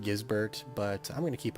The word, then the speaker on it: Gisbert: I'm pretty sure it's pronounced Gizbert, but I'm going to keep on calling him Gizbert because I'm 12.